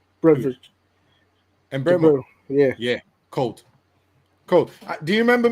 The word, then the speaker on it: Mbeumo: Mbeumo.